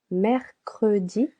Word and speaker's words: Mercredi: Mercredi, 3 syllables.